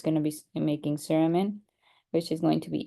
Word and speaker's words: cerumen: So the fancy word for earwax is cerumen, however you want to say it. And depending on who you listen to, British people pronounce it saruman, I think. And then we pronounce it cerumen in the United States.